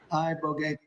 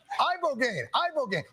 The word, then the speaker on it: ibogaine: Ibogaine. Body. Ibogaine. Rogaine with an ibo.